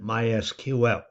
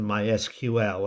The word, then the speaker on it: MySQL: I'm going to assume that you have downloaded MySQL. By the way, you're supposed to pronounce it MySQL and not MySQL.